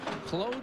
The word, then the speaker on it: Claude: He prefers Claude. He's French-Canadian, and I guess when you have a name that's spelled like John, pronounced like Jan, you be more sensitive.